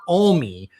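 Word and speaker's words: Alme: Hours before and I believe the name is pronounced. I said, and someone from Montana corrected me. It's Kurt Olie had filed and we didn't pay much attention to it.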